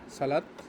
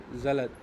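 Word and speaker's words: Salat: কথা দার সালাত বলে সালাত না দার জলাত জলাত জ এর মত উচ্চারণটা হবে সালাত হবে না জলাত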